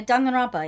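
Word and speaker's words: Danganronpa: I want to do the dog and rob how you pronounce it. Uh Dong and Roba.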